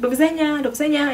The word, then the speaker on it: do widzenia: They say do widzenia, like very very loudly, like do widzenia, and then they reply.